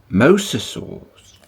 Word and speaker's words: mosasaur: sheet all about misasa mosasaurs oh I've been saying it wrong I'm sorry MOS Mosasaur okay and these are what